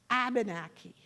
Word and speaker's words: Abenaki: the yes okay so the English say Abenaki along the Hudson River Valley into New York where large Dutch settlements and they say aubenaki the French had no sound for w so wabaneki became a beniki and so they're all